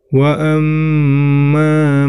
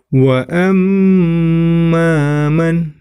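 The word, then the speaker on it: وَأَمَّا: diperhatikan, wa amma, ya, di situ ada mim tasydid, ya, yang warna merah, maka itu termasuk hukum bacaan gunnah. Sama seperti nun tasydid, ya, cara membacanya ditahan dan diperpanjang. Wa amman, ya.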